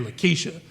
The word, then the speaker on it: Larkeisha: her name was Larkeisha, and she was like, my name is Lakeisha. The R is silent.